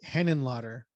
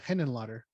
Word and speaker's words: Henenlotter: basket case right frank hennen lotter i'm probably not pronouncing that right let me look at it here hennen h-e-n-e-n-l-o-t-t-e-r yeah henon lotter so he directs frankenhooker